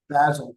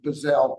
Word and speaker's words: Bazzell: also Intel Techniques under Michael Bazzell or Bazzelle, you pronounce it differently, but he has incredible books and materials and an online site IntelTechniques where you can learn.